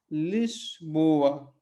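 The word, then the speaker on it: Lisboa: तो ये क्या हो गया यहाँ पे शब्द, लिस्बोआ, लिस्बोआ। तो लिस्बन को आपको कभी भी बोलना होगा, लिस्बन, तो क्या हो गया, सबको पता है, आप सबको क्या है, लिस्बोआ, ठीक है, लिस्बोआ।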